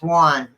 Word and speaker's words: Juan: I might be saying it wrong. It's Juan. It's one.